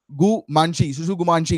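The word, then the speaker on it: tsutsugamushi: का नाम है ओरिएंटिया सुसुगुमांशी गाइस। तो टी जो है यहाँ पर साइलेंट देखने को मिल रहा है ओमेंटिया सुसुगुमांशी।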